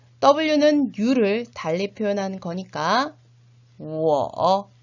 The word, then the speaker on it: 我: W는 U를 달리 표현한 거니까 我 라고 읽으셔야 되겠죠?